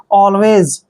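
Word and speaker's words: always: जीवित next word देखिए ए एल डब्लू ए वाई एस देखिए ए का उच्चारण यहां पर हम अ करते हैं ऐसे अ और एल को क्या लिखते हैं ल और डब्लू ए का उच्चारण वे करेंगे और वाई एस को हमने यहां पर ज का उच्चारण करना है ठीक है ना जब भी एस से पहले वाई आता है तो एस को हम ज पढ़ते हैं ऑलवेज ऑलवेज मींस होता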